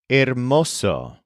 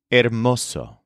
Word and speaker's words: hermoso: our next word is Oso which is spelled h e r m o o but of course the H at the beginning is silent Oso here's an example yes